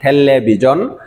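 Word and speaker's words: 텔레비전: এরকম ভাবে থেল্লে বিজন এটা আমাদের পরিচিত শব্দ কুরিয়ান উচ্চারণ ঠেল্লে বিজন তারপরে বুয়ায় মূল শব্দ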